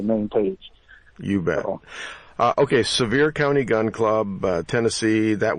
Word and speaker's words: Sevier: buy into the main page you battle okay severe County gun club Tennessee that would get it but severe is spelt a little differently i IE are okay